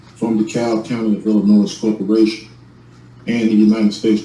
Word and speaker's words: Illinois: By the way, the state is pronounced Illinois.